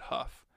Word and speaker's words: Hough: gary watched him go bill huff he pronounced that huff bought a ticket at quarter to 11 and rat again at 11 30.